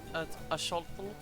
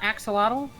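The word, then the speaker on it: axolotl: It looks like an Wait, how did you say that? Aful. Is that how you say it? Yeah, not axelottal. No, cuz it's like it's like the Central American word.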